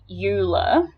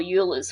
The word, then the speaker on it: Euler: like this so it looks like it's um pronounced uh euler or euler's formula uh but he is uh swiss and